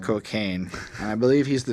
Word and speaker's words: Kokane: And then there's a guy whose name is Kokane, spelt with K's so that he gets around censors. But it's just Kokane.